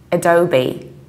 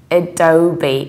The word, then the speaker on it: Adobe: not a phoner sake language so simply you pronounce things usually differently don't the spelling would suggest so we say Adobe Adobe you have swore at the very beginning oh